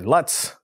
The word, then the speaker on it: LUTs: I'm in, which are LUTs, which also rhymes with butts, LUTs with butts, which is coincidentally the name of the album I've been working on.